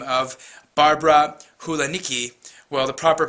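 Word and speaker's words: Hulanicki: come interior designer by the name of Barbara Hulan Niki well the proper pronunciation would be janitzki but in any event let's call her Barbara heniki and she now lives in Miami she basically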